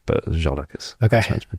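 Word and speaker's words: Ziołek: I was Zimpel and Ziolek, but Jolek is meant to be pronounced.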